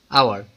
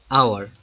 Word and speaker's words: hour: For example, an hour, not hour, an hour. H is silent here.